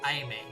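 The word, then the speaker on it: Aimée: Amy means loved, but the accent makes it pronounced Aime.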